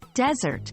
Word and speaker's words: desert: second syllable desert well desert when used as a noun referring to the be land has stress on the first syllable day e r t